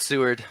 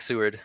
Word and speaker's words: Seward: I go with Seward. I go with Seward. Seward with an E, kind of like Seward's Folly, like the Alaska dealy.